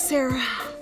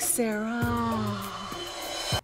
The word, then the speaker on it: Sarah: Well, actually, it's Sarah. Just a little bit more of a sound at the end, like Sarah.